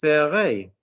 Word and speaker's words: ferait: 6 heures, il le ferait. Pronunciation. Il le ferait. Il le ferait. Il le ferait. Not fair. Learn to listen to vowels.